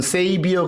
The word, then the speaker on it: saviour: 쓸 때 끝에 URL 자는 빼고 쓰기도 합니다 발음은 세이비어 그러죠 그때 u자는 안 써도 됩니다 이사야서 43장